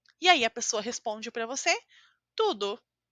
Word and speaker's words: você: a pronúncia desta letra esta letra em português se chama v e você precisa colocar os seus dentes de cima eles precisam tocar os lábios de baixo você fala você você cuidado porque em